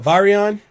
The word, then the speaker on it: virion: A virion, or virion, or whatever the fuck you call it. Virion is how it should be pronounced, but virion is, I guess, how they pronounce it in English.